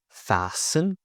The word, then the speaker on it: fasten: Silent T. Listen. Castle. Whistle. Whistle. Fasten. Fasten.